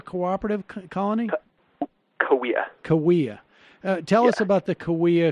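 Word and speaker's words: Kaweah: in the late 1800s the cave am i pronouncing it right the kala cooperative colony oh yeah Cahuilla tell us about the Cahuilla cooperative colony and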